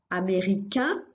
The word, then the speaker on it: américain: And that's because the three letters together, A, I, and N, which you've got in the masculine, in French make the sound un.